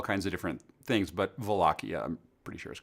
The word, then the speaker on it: Wallachia: But I'm pretty sure Wallachia is the proper one. But there's Wallachia and Wallachia, all kinds of different things. But Wallachia, I'm pretty sure is correct.